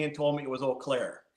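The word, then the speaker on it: Eau Claire: be at the oakair or some people say uair do you say uair or olair well when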